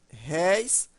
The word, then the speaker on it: réis: Céu, dói, réis e... se eu colocasse reis, veja que a pronúncia é fechada. Reis, e aí já não é acentuado. Mas réis, aí é acentuado porque temos a pronúncia aberta.